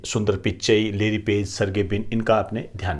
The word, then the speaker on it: सर्गे ब्रिन: Larry Page व सर्गे ब्रिन के द्वारा। ये प्रोनाउंसिएशन होता है, इस पे गड़बड़ी मत कर देना, कोई दिक्कत वाली बात।